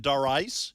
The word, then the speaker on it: Darice: No, actually, Dar is short for Doris, and no one can pronounce it the way it's spelled. Doris.